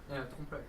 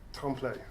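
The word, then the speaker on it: trompe-l'œil: How do you pronounce it? Trompeloeil. Trompeloeil.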